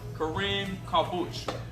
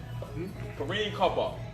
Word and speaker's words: Kareem Kabak: Number 2, and his name is Kareem Kabuch. Kareem Kabak. I'm sorry. I pronounced it wrong.